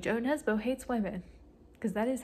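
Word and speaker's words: Jo Nesbø: me talking about how kind of seems like Joe Nesbo hates women because that is how you pronounce his name also maintenance came my my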